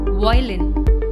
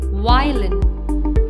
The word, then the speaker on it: violin: some common musical instruments the first word is violin violin is a small wooden musical instrument with four strings and is played with the help of a bow it is often incorrectly pronounced as roylene please focus the spelling of the word is